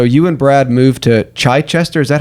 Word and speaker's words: Chichester: So, you and Brad moved to Chai Chichester. Is that how you say it? Yes. Okay. You moved to Chai Chester in 2014 and you launched Neabboth Gardens in